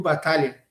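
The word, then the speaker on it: Battaglia: jogador um volante argentino o Rodrigo o Rodrigo batalha correto seria Rodrigo batalha o gênero É pronunciado nesse caso Então se o Rodrigo batalha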